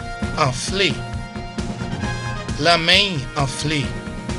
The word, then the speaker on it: anflé: Anflé, A-N-F-L-E, pronounced as A, Anflé.